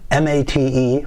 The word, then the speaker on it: Mate: where does the name come from the name m-a-t-e pronounced mate there it is mata comes from yerba